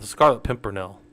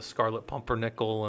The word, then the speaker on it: Scarlet Pimpernel: the Scarlet, you know, it's the Scarlet Pimpernel is how you say it. But but I So I was saying it so wrong yesterday. So long that I can't even say it right now. Um the wife heard me say because she was getting mad that I kept saying it wrong. Like the scarlet pumpern nickel and the I was just saying it wrong.